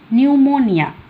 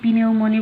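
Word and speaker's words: pneumoniae: অনেকে পিনিউমনি বলে, কিন্তু অ্যাকচুয়ালি এটা নিউমোনি।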